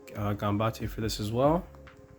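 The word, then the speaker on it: Gambatte: I also like Gambate for this as well. I don't know if I always pronounce it Gambattle, but I know that's wrong.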